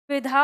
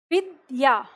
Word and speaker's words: विद्या: आपका यह होता है अगर हम इसे लिख दे तो इसका उच्चारण क्या हो गया विधा हो गया तो यहां पर फ ध क्यों बोल रहे हो आप अच्छा द बोल रहे हो द बोलते हो तो ऐसे होना चाहिए ना अब देखो ध्यान देना